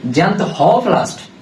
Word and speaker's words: জ্যান্থোপ্লাস্ট: এরপর দেখো জ্যান্থোপ্লাস্ট, এটা আমি একটু কিভাবে উচ্চারণ করবো? জ্যান্থোপ্লাস্ট, হ উচ্চারণ করবো। তাহলে দেখো তো আরবি উচ্চারণের মতো হটা আলাদা করে করতেছি না আমি, তাহলে এই হতে আর একটা বর্ণ আসে, সেটা কি হলুদ।